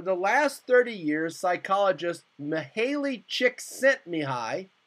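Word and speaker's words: Csikszentmihalyi: last 30 years psychologist Maley chick sent Mii that's how you pronounce it has explored optimal creative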